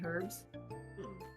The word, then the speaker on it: herb: to pronounce herbs it's the H is silent I've never heard it